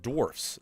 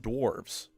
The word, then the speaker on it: dwarfs: First is that it's pronounced dwarfs, not dwarves.